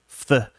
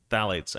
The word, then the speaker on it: phthalates: culprits is good Lord phthalates phthalates I think the pH is silent phthalates a chemical found